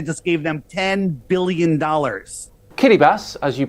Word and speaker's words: Kiribati: Kiribati, as you pronounce it, is made up of over 30 islands. Yeah, he said Kiribati. Where? What's a Kiribati? It's Kiribati.